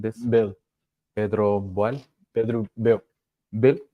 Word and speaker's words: Boehl: Bill. Pedro Boehl. Pedro Bill. Bill. Bill. It's Pedro like Bill. German surname.